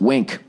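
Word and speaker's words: Winc: here um all right wink pronounced wink it's w NC all right finding a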